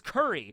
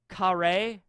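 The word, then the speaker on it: カレー: I thought the food reference for the KURI region is curry. But no, in Japanese, curry is actually pronounced more with like a kare. That's like how you pronounce it, kare, in Japanese.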